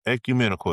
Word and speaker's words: ecumenical: Ecumenical is how you say it.